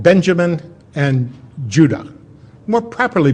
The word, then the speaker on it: Judah: The 2 southern tribes were called Benjamin and Judah. More properly pronounced Judah, because we didn't get the harder sound to the J until about 200 years ago.